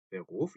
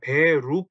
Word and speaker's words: Beruf: 자, 요거 가지고 발음을 되게 좀 힘들어하세요. 왜냐하면 요 독일어의 R 발음이 때문인데요. 이거를 어 일단 원형은 Beruf죠. Beruf 요렇게 써 놓고 나서 이거를 읽어 보세요. 그럼 Beruf 그 우리말로 치면 Beruf 정도 되겠죠. 요 루 때문에 많이들 어려워하시는 거예요.